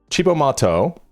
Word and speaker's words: Cibo Matto: Chibbo Mato pronounced this Italian for Crazy Food was a Japanese American band formed by Yukahanda and Miho Hattorii in New York City in 1994.